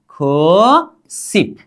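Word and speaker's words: 구십: अब इसका उच्चारण क्या करेंगे, सिप, क्या, खो सिप, क्या करेंगे, खू सिप, क्या, खू सिप।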